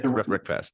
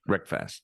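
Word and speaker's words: RecFast: Yeah, rec fast. Rhymes with breakfast is my favorite meal of the day, and so I have a lot of fun with the marketing on that.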